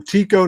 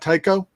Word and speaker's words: Tycho: on the island but you call them tico not taiko because it's just pronunciation